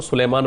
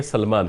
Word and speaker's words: سلمان: کی اصلاح چاہتا ہوں۔ بعض لوگ آپ کو سلیمان پڑھتے ہیں، سلیمان نہیں بلکہ سلمان ہے، یہ یا کے ساتھ نہیں ہے، تو اس کو تلفظ